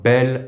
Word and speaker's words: bel: Ami here is masculine but because it starts with a vowel, with these specific adjectives we use the pronunciation of the feminine adjective while writing it as a masculine with a single L.